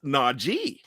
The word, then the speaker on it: Najee: And I said, "It's Najee."